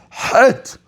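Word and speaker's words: חית: Yes, it's not chet, it's het.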